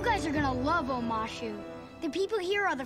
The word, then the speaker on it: Omashu: of ASU the Earth Kingdom City of omashu omashu okay I did pronounce it right cool we don't have cities